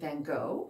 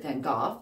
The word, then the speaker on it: van Gogh: So anyway, he was learning about Vincent van Gogh, as we say here in the United States, or Vincent van Gogh, as you say in the UK, or Vincent van Haha. I think that's how they say it in Dutch. Don't quote me on that.